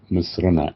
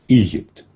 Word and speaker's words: مصر: مصر بيتكتب باللغة الإنجليزية ايجيبت. الحقيقة مفروض ان هو يتكتب باسم مصر MISER مصر، وهو النطق الصحيح الطبيعي لاسم البلاد.